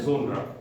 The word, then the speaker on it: genre: यूके एंड यूएस में अलग अलग बोलते हैं. यूके में जोनरा और यूएस में जोनरा. दोनों सही है, दोनों सही है.